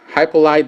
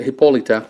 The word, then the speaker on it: Hippolyta: focus you also have it says hi polite but it takes a Hippolyta that's actually that should be the right way to say it of the you know the right Greek way and cheetah which we're